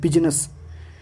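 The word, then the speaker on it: business: तो पूरे ही English word में आई एक ही जगह साइलेंट है और वो है बिजनेस। जे कहाँ साइलेंट होता है?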